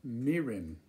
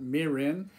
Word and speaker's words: mirin: this is a product that americans often call mirin in their cuisine in their attempts to cook asian food but the japanese pronunciation is quite different it says this is called meeting not marin okay marin sounds like a hick from some